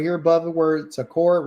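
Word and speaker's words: זכור: So the first word that he tells us right here is called zakore. You can see right here above the word zakur right here. That's how you pronounce it.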